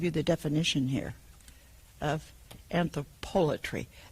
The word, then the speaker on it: anthropolatry: Now, that's how I pronounce it, because I've never heard people talk about this. It's spelled, this is a philosophical dictionary definition of anthropolatry, P-O-L-A-T-R-Y. I don't know where they put the accent on that.